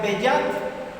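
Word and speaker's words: בְּיַד: Eso en el versículo 12, esa preposición viene de una palabra hebrea que se pronuncia beyat, que dice por la mano de.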